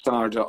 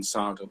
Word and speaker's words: SARDA: about, first of all, I'm not even sure if it's pronounced SARDA Ireland. Is that how you pronounce it? Yeah, it is, grand. Yeah. So SARDA Ireland is a voluntary